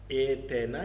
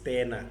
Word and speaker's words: stena: Here it is wrongly spelled like Athena, it is Thena, S-T-H-E-N-S, Thena, which means thief.